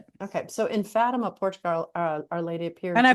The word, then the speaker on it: Fatima: lady appears and I've obviously been mispronouncing it because when I read it, it says Fatima in my mind. Yes. Well, and when I went to Portugal, actually, they said Fatima. So, hey, I'm I'm mispronouncing it, too. But the common American bastardization is Fatima.